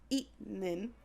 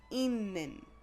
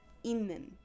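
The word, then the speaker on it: 있는: The way this is pronounced is not itnin, it's inin. That Batchim turns into a Nian sound, inin.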